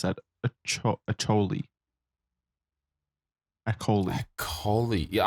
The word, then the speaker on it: Acholi: Acholi. Kony. Yeah, I'm going to say it's a silent H. Akoli.